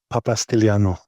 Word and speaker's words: Papastylianou: Um, so, uh, help me off the with pronouncing your last name correctly. Papastiano.